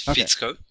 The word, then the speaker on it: Ficko: It is Ficko.